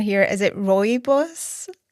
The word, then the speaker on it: rooibos: How do you pronounce it, sorry? It's rooibos.